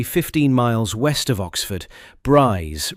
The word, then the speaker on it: Brize: BRze rhyming with prize in the pronunciation used at the station and by the surrounding area served as the broader conversion training center for the British glider force.